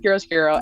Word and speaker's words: chiaroscuro: Yeah, it's spelled charo, but it's pronounced chiaroscuro, and it is what makeup artists referred to, because the only people that did contouring, were people that were in films.